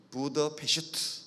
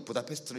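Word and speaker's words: Budapest: 정확하게 헝가리식으로 발음하면 부다가 아니고 부더. 영어로 A라고 쓴 거는 유럽어에 잘 없는 어 발음, 우리의 어 발음하고 같아요. 부다페슈트, 이게 이제 헝가리식 발음인데 그냥 영어로 써놓으니까 부다페스트로 읽게 되죠.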